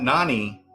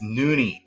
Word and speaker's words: Noonie: It's not Nani, Noni. It's Noonie, baby. Just so you guys know, that's how it's pronounced.